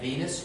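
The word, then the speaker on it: venous: the patient's right and Venus rhymes with penis although she did have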